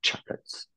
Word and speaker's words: chocolate: ton a K voilà choclot choclot ouais voilà avec l'accentuation sur la première syllabe donc c'est pour ça